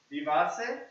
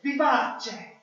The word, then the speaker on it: vivace: Say vivace. Vivace. Vivace. Vivace. There we go. So that C is actually pronounced che.